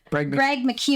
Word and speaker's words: Greg McKeown: And it's also this quote that we pulled from the book Essentialism by, how do you pronounce the author's name? Greg McKeown.